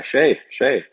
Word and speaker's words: Skjei: It was the first time in my life where everyone was like, oh yeah, Skjei.